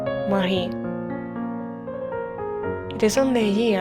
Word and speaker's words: Marie: Her work will be completely in France, a Frenchman will become her husband, her name will be pronounced according to the French phonetics, Marie.